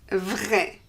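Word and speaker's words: vraie: Vrai. For the feminine, we add an E, but the pronunciation doesn't change.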